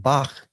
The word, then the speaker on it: Bach: it shows here that the ch as in Bach. Uh so if you know German, you know the correct pronunciation of Bach is what that guttural. Uh but when I was in German class, because like you know it's using a German letter or German word here to uh show how this guttural is pronounced, my German teacher